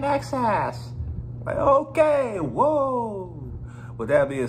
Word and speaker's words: INXS: i slaughtered their name i think i was calling them inxs somebody's like it's pronouncing access okay whoa with that